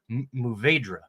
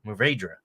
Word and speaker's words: Mourvèdre: I can never pronounce this correctly. Mourvèdre. I'm glad that you did it, not me. Mourvèdre.